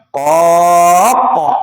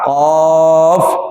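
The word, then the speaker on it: ق: Orang qaf belakangnya huruf fa. Jangan mentang-mentang huruf qalqalah lalu qaq katanya. Bukan begitu cara bacanya. Qaf ya.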